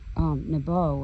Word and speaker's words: Nebo: In Strong's Hebrew 5015, Nebo is actually how it's pronounced properly according to Strong's.